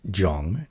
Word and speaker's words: 정: Um, and uh, this one is said jung. Now, this is another uh, one of these funny vowels that don't really exist in the English language, the uh, uh, which is not a o.